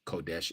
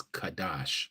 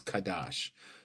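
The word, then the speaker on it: קדש: We know it's not pronounced Kodesh, it's Kadash, okay? No O's, no E's, okay? It's Kadash.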